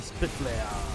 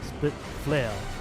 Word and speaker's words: Spit Flare: And then Spit Flare. Spit Flare. I keep saying split instead of spit, so that comes off wrong.